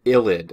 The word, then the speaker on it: ylide: is known as an illid and that's pronounced with an i not a y even though this is how it's spelled it's ID and the